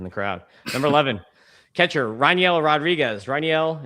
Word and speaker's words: Rainiel: take a photo with Rainiel Rodriguez. And you say it Rainiel, like a rye, like a whiskey, is how you say it.